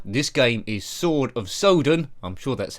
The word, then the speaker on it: Sodan: game is sword of Soudan I'm sure that's how it's pronounced not sodden like grass anyways published by Discovery